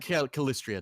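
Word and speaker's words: Calistria: Callistria, that's how you say it.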